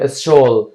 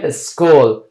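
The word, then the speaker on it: school: و یا هم میگیم اسکول این شین تلفظ نمیکنیم بگویم اسول میگیم اسکول کاف تلفظ میکنیم اینجا صدای کاف افاده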